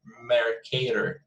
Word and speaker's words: Mercator: Mercator, that's the pronunciation.